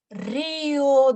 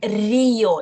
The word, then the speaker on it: río: Y va a ser Río de Janeiro. Río de Janeiro. So here is a diphthong, a quick one, but Río, it's not Río, Río.